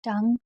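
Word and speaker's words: tongue: उसके बाद जैसे कि टंग, टंग में आप देख रहे हैं कि ओ एन है इसलिए ओ को नहीं पढ़ा जा रहा है।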